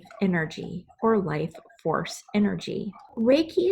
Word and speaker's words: Reiki: or life force energy Reiki is pronounced ray and key it was founded in